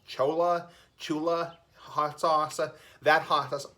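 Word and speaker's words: Cholula: But, I think going forward, traditional, like, your store-bought hot sauce, like, Chola, I think it's pronounced Chula hot sauce.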